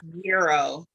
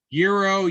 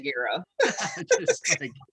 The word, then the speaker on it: gyro: to pronounce this it's euro euro gyro yeah you don't you're not supposed to pronounce the g but i'm from chicago we definitely say gyro so um i i